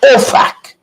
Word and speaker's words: OFAC: that was sanctioned by OFAC, right? You got to be very careful how you're pronouncing this. OFAC. FAC. It's not a British way using expletives.